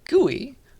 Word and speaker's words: GUI: which is uh gui for short okay gui gui that's how we pronounce it and so we're going to do